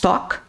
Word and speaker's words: talk: Toolbox talk. Lembre-se que a pronúncia dessa palavra é talk.